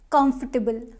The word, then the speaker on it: comfortable: now next word is comfortable comfortable again no comfortable is comfortable first syllable is stressed here comfortable not comfortable comfortable